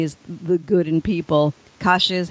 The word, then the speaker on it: Kasia: Kasia is how you say her name, the courage in people.